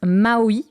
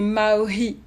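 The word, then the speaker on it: mā'ohi: Tu chantes parfois en langue vernaculaire tahitienne, dite maoi. Je pense que je prononce bien. Presque. En fait, nous, on prononce le H. Du coup, ça fait maori.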